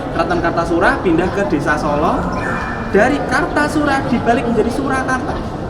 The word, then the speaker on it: Solo: Desa Solo Oh Desa Iya tulisannya aslinya s a l a bacanya solo bukan O salah Tapi bacanya Solo Jadi bukan s o